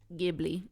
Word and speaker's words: Ghibli: and only Studio Ghibli Ghibli Ghibli it's a j it's a soft G not a hard G do some people say